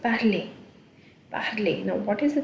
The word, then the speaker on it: parler: This is one verb which is parler. ER ending will give a sound. The R will not be pronounced like totally. You will hear a sound. Parler.